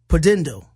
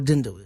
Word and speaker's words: pudendal: it's a tough one to say it's a pudendal pull endo pudendal pretend oh it's spelled EU de in da l bu d